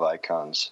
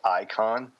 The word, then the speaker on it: Icahn: just Google Ackman versus icon okay Ackman is spelled ack ma n and icon is not spelled ICO n although he's an investing icon it's I see Ahn and so about I